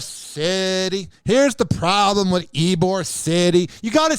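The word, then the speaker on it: Ybor City: thing with eore City here's the problem with ebore City you got to say it like that you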